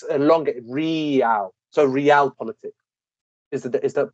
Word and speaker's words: realpolitik: So realpolitik is the pronunciation.